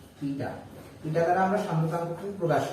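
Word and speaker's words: η: দেখ সান্দ্রতাঙ্ক বা যেটাকে আমরা ইটা দ্বারা প্রকাশ করছি, এটার উচ্চারণ হচ্ছে ইটা। ইটা ইটা দ্বারা আমরা সান্দ্রতাঙ্ককে প্রকাশ করি।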